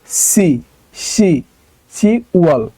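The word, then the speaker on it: 시월: মাস এইটাও একটু ব্যতিক্রম এই যে শিপ এটা হওয়ার কথা ছিল শিপ তো বিয়োপটা এখানে উচ্চারণ হবে না বা বিউপটা এখানে হবে না এইটা শুধু হবে সি ওয়াল মানে হচ্ছে অক্টোবর মাস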